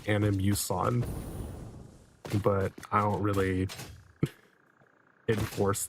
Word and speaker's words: Animus: So, the correct way to say it if you're going by the original intention behind the words is animus.